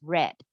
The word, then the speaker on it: read: be ever read so it's the same word as read but in this case it's a past tense so we pronounce it as red this story is the